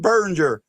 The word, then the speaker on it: Biringer: And I want to say a big thank you to my buddy, my friend, and my pal, Jim Biringer.